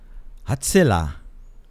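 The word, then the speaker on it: הצלע: Of course, the Hebrew word is hatsila. That's how you pronounce it, at least.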